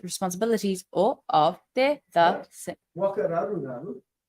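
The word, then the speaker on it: whakararuraru: Wakararuraru? Wakararuraru, yeah. How do you spell it?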